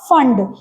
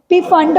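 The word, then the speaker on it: Pfund: फिर एक साइंटिस्ट था फंड कई कई पी फंड बोलते हैं बट पी इज साइलेंट।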